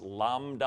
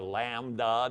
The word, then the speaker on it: lambda: That's pronounced lambda or lambda, depending on who you learn it from.